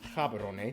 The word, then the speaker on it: Gaborone: Botswana's capital and largest city is Gaborone. If you speak Setswana, it's pronounced Gaborone, located close to the border of South Africa, and the country is divided into 9 districts.